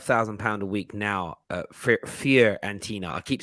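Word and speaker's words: Fiorentina: pounds a week now fear and tina i keep saying it wrong i always say florentina i don't even know why and now i know it's wrong i keep saying it fear arentina all right yeah he's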